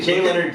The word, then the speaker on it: Jay Leonard: I am here with the wonderful Jay Leonard, and we are here. Did I pronounce perfectly? Perfectly. Jay Leonard.